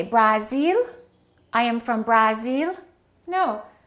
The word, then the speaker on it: Brazil: But what happens to these a's with Japan and Brazil? The first syllable is reduced and the second syllable is stressed. So this will sound like uh and this a will sound like a.